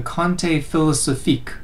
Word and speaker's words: conte philosophique: now third we have the french writer voltaire who developed the kante philosophique or philosophical tale this is a painting of